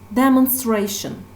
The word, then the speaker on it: demonstration: And let's look at the second noun, demonstration. Demonstration. So, the stress syllable part is here. Demonstration.